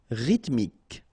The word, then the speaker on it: rythmique: Remember, Y pronounced like I and then H doesn't exist. Rythmique. Rythmique.